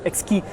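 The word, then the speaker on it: Exki: play on words because if you pronounce this x-key it's the same word for exquisite in french and let me show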